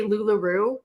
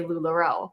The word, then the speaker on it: LuLaRoe: Like I like to say LuLaRoo just to bother it, like because it upsets people that I don't say LuLaRoe. But I love to purposely mispronounce it.